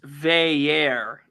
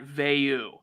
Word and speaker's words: Veilleux: how you doing sir he wants it pronounced Veer and not Vu he clarified it today